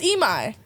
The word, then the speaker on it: Imai: And then I did Imai because my favorite anime at the time, like last year, was... Oh, it's Imai.